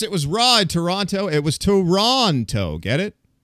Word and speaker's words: Toronto: Toronto. And then that's just because all of us hosers here say Tirana, but I try to say Toronto.